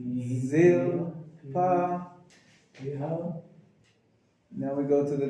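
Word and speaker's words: Zilpah: Bnei Zilpa. Ziz. Can you make the sound Z? Zilpa.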